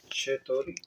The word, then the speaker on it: چطوری: اچھا یہ اس کا تلفظ جو ہوگا چتوری، چتوری، چتوری چتوری. اردو سے ملتا جلتا ہے.